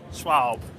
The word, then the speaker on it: Schwab: Now, is it Schwab? How do you pronounce it? Schwab.